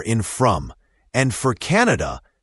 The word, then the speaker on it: Canada: And for Canada, pay attention to the stress. It's usually stressed on the first syllable. Canada, not Canada.